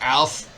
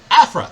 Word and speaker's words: Afra: Dr. Alfra. Afra, that's how you say it.